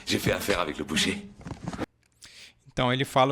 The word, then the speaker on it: boucher: Lembre-se que o O e o U em francês nós falamos U. E por isso que pronunciamos dessa maneira boucher.